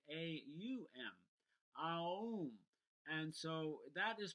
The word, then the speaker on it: Om: certain ways and traditionally in the traditional teaching of ohm it's actually not om the way it's spelled or pronounced it's actually a um Oh and so that